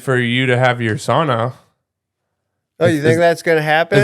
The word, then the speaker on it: sauna: It is truly the correct way to pronounce sauna, and it's the only Finnish word that is well known by Americans.